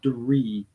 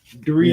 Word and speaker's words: Draoi: Pronounced, it's Dree, like tree with a D though. Yeah. So yeah, Dree. Yeah, I would have said draw or Dre or something like that if I would have tried.